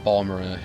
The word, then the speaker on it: Balmora: than you could say for Balmora, or Balmora if you're going to pronounce it the way they said it in ESO, but I still pronounce it Balmora.